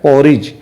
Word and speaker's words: porridge: बच्चों पढ़ते हैं पॉरिज अब यहां देखो डी लिखा है तो डी का ड तो हम नहीं बोल रहे हैं इसका मतलब है डी यहां पर साइलेंट लेटर है हमें डी का आवाज यहां नहीं करना है ठीक तो यह पौ और डबल आर आई को पढ़ेंगे री डी साइलेंट है जी ई का होता